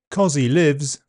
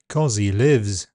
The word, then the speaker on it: cozzie livs: Cozzie Lives is Australian Dictionary Macquarie's Word of the Year. Although the spelling mixes S and Z, the pronunciation is two voiced Z sounds. Cozzie Lives.